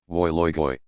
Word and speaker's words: Wui Lui Gui: On the other hand, a restaurant labeled Wui Lui Gui is called, to rhyme with boy, Woi Loi Goi.